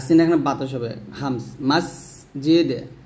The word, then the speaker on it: মসজিদে: এই জিমের উচ্চারণটা কোথায় করতে হবে, জিব্বার মধ্যখান, তার উপর তালার সঙ্গে লাগাতে হবে। মাস, আর সিনটা অবশ্যই নিচে যাতে মাঝখানে লাগবে, বাতাস বের হবে। মসজিদে মসজিদে, দালটা কলকলা হবে, আর সিন এখানে বাতাস হবে, হামস।